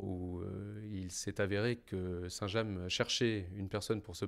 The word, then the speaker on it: Saint-James: fait cent trente ans on dit saint-james sans prononcer le s final alors ce qui caractérise notre histoire c'est que pendant le moyen âge et jusqu'au milieu du 19e siècle saint-james village était composée de